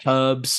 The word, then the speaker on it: herbs: Little things like we say herbs, and Yes. obviously in America they drop their H.